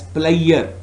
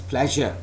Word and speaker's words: pleasure: some more example so never please speak this word as player no it's not player this word is pronounced as pleasure as in measure as in treasure anyways so these are